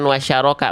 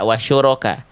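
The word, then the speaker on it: وشركاءكم: Nah, bukan wasyaroka, wasyuroka. Bunda bacanya bagus, cuman kalau tidak tenang biasanya suka nge-blank. Ya, tenang aja, Bun. Ya, salah tinggal kita ulang ya. Jangan bukan wasyaroka, tapi wasyuroka ya.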